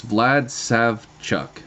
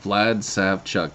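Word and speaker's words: Vlad Savchuk: with pronunciations vlad uh no no it's it's vlad sav chuck yeah vlad sav chuck talks a lot about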